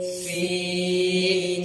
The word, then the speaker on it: سین: کا پہلا ورڈ زا ہے۔ زا زا سین سین سین سین۔ ناظرین، حروف صفریہ یعنی سیٹی والے